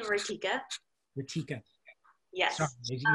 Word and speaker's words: Ritika: Rikita? Yeah, I pronounced my name Rikika.